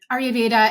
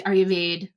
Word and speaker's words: Ayurveda: Do they mention um, your style of treatment and I do Ayurveda, and some people will say Ayurveda. That's also another pronunciation, like in Sanskrit.